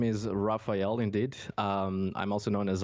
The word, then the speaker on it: Rafael: But the thing is, in Portuguese, it's not that much of a difference. It's Rafael. It's a really strong name per se to pronounce, especially in English.